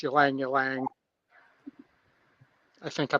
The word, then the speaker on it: Ylang Ylang: It's Ylang Ylang. I think I'm pronouncing that right.